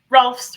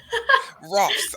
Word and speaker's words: Rohlfs: Rohlfs rhymes with golfs. Rohlfs.